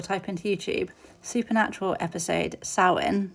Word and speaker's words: Samhain: Now sin, which is pronounced sin, but it is spelled Sam Hayne.